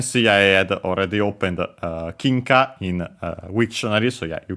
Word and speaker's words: 金貨: The word is kinka, as mentioned. It's a Chinese compound. In this case, accented on the first syllable, so be careful, not